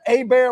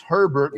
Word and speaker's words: Herbert: He goes, no, John, there's another R in it. It's Lucas Herbert, like Justin Herbert, the quarterback of the LA Chargers.